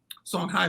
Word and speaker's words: Songhai: not know that there was a place called Songhai I had gone is that one word or two one word okay some places you will see it spell h-a-y but it's pronounced I oh my God song High people and um I had gone all through